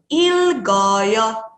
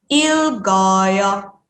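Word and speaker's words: 읽어요: Karena sudah digabungkan, cara bacanya menjadi ilgoyo. Oke ya. Jadi di sini bisa nih disebutkan lil dan juga gioknya ya. Lil bisa disebutkan bersama dengan il dan gioknya bisa kita sebutkan bersama dengan o-nya ya. Ilgoyo.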